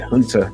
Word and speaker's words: Junta: It says West African, I believe you pronounce that Hunter, even though it looks like Junta.